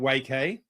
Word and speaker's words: Waiky: So we've used, and we're pronouncing it Waiky. And we're doing that because it's alliterative, but you can pronounce it any way you want.